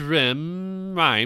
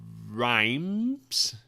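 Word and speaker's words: Rime: Ice Rhymes. Rhyme? Okay, that's what I thought. Because I'm like, basketball rim, like, I know that's not with the E, but yeah, rhyme.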